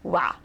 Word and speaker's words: は: But anyway, as you'll note, the particle wa is written with the hiragana ha, but it is pronounced wa.